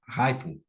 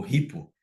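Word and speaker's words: HiPPO: acontecia, que é o fator hypo ou ripo, depende como você quer pronunciar, ele vai lembrar ali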